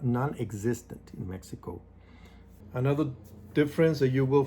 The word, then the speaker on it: Mexico: It's not Mexico, it's Mexico. Even though it has that X, we don't pronounce it, it's Mexico. In the schools in Mexico, they don't give you breakfast.